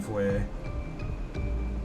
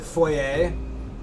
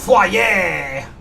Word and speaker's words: foyer: Notice how I pronounced it foyer? Because otherwise the French people in here get really pissy with me. If I call it foyer, they're like, ew, Mango, ew, how dare you pronounce consonants? How dare you pronounce consonants in that language? Language. Ugh. French. It's pronounced foyer. In our outrageous French accent.